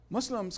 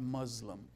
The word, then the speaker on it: Muslim: contribute to your sensitivity the pronunciation is not Muslim its Muslim it's s it's s why do I say this Muslim means tyrant in Arabic Muslim means the one who has surrendered submitted okay so train yourself to pronounce it with an S which shows sensitivity on